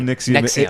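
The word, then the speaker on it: NXIVM: Nexium. It sounds but like- it's spelled like NXVI.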